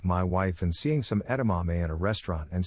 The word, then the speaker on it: edamame: all the time and used to say edamame like e to mommy normally pronounced edamame if you don't know